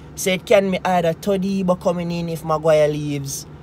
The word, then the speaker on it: Todibo: So it's Todibo, yes, Todibo is how his name is pronounced.